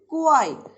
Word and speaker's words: choir: है वो क्या है, क्वाई। यहाँ है वो सी साइलेंट है, हम इसको सी यानी कि चो ऐसा प्रोनाउंसिएशंस नहीं देंगे, बल्कि अ क्वाई ऑफ